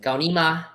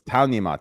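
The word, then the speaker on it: 操你妈: We said Gaonima. What? First of all, it's Taonima. Tao. Taonima. Taonima.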